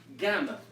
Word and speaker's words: gamma: we of course have gamma which always makes the sound go the hard G so that's why there's